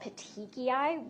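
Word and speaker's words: petechiae: And another thing that you can see with compression is what are called petiki, which is spelled p e t e c h i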